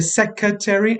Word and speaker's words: secretary: another slight pronunciation thing i would really pick up on as your grammarian today is the word secretary and secretary is the right pronunciation i promise i've looked it up for you because i do hear secretary and security and it is secretary so let's pick up